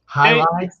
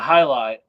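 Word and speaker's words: jai alai: actually spelled like Gilly oh okay but it's pronounced highight yeah highight uh j a i a l a i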